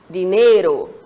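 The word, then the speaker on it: dinero: Temos uma próxima palavra, que é dinheiro.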